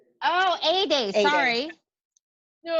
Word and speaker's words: Ede: My name is pronounced Ede, like a sunny day. Oh, Ede, sorry.